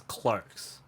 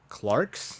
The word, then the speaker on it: clerks: you pronounce the word c-l-e-r-k-s one more time c-l-e-r-k-s clerks so in britain they pronounced as clarks clarks that makes no sense